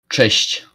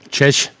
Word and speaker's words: Cześć: Hey, Ambo, how do you well, pronounce that? That Chechishish. Cześć. Chesh?